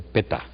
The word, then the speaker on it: Peter: eh Peter sewalt alemán porque en alemán no se dice Peter sino dice Peta Peta Bueno entonces por último